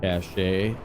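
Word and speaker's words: cache: carried cash or cashache as some pronounce it.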